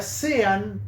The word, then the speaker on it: Sean: eh shono Y John nunca sé bien Cómo se pronuncia sean pero se pronuncia John como John Pero bueno Sean Lennon